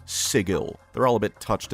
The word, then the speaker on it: Sigil: This is like GIF versus JIF, only this time the people saying the guh sound are the idiots, which is unfortunate because the inhabitants of Sigil get angry when you don't say Sigil.